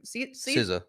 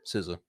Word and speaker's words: SZA: SZA. SZA? SZA.